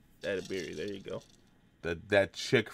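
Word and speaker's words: Edebiri: Edabiri? Edabiri, there you go.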